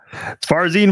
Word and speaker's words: Farzin: Farzin.